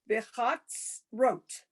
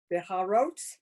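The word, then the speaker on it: בחצרות: First of all, that a funny looking Z. thing is the tsa, not Yeah, a the Z, tsa. it's the tsa.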